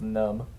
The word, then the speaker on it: Khnum: Khufu's name was dedicated to the earth deity Khnum, which, or I think it's just pronounced Num. It's spelled Khnum, which might point to an increase of Num's popularity and religious importance.